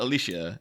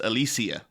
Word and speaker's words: Alicia: years yeah because everyone she's saying it's not alicia it's alicia so alicia silverstone but